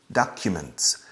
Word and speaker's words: documents: Fijaos en la pronunciación. Casi como una A en español. Docu. Podemos cerrar más. Documents. Q. Pero lo importante es Q. We never say document. That sounds a little primitive in English. Documents.